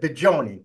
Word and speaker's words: Bigioni: It is a hard G. Oh, so it's okay. Bigioni.